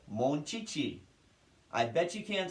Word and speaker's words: Monchichi: it would be pronounced mulch heichi but no the h is supposed to be silent so it's still pronounced monchichi how stupid is that